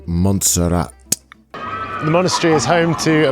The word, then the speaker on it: Montserrat: I'm in a place called Monestir de Montserrat, I think. Monestir being monastery and Montserrat meaning sawtooth mountain. So, it turns out I can't read or in fact speak. It's actually pronounced Montserrat.